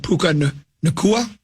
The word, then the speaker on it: Puka Nacua: Cooper Kupp and Puka Nacua.